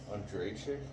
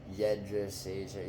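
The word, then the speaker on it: Jędrzejczyk: Joanna Andrzejczyk? Jedrzejczyk. Yeah, whatever the fuck. I always forget how to pronounce it.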